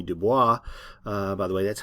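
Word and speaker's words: Du Bois: from Booker T Washington and from Debbie B Dubois by the way that's how you pronounce his name a lot of people say Dubois but it's Dubois and we're going to be sort of bringing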